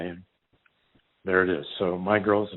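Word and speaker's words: My Grl: follow John through through my girl and by the way my girl girl is spelled GRL and that's the name of the boat you know how you throw out all the vowels name a vote he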